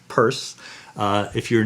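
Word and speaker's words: Peirce: with charles sanders purse his name is spelled kind of like pierce but it's pronounced purse uh if you're not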